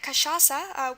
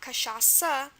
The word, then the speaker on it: cachaça: Okay, we looked at cachaça. We know we're going to have our C before the A. That's how we spell the K sound usually. CH here is an example of the sh sound.